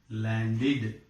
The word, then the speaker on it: landed: This past tense ending is pronounced as id, landed.